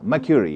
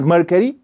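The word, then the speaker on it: Mercury: मर्क्यूरी है, इट्स नॉट मर्करी, इट्स मर्क्यूरी।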